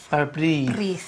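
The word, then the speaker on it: bara brith: the family tradition alive tell me barab brith am I saying it right to start with yeah barab bar bre that's right yes very well is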